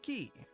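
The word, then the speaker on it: キ: Key. This is key or key. It's a consonant followed by a vowel and makes up a single syllable. Pronounce this as key, like in the word keep or key.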